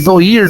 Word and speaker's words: noir: Ele é um filme mais voltado para o gênero noir, né? Se escreve noir, né? Mas a pronúncia certa é noir.